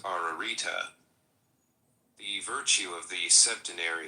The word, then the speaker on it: Ararita: triple and double repe ition this word is pronounced ararita the virtue of the septin is absolute in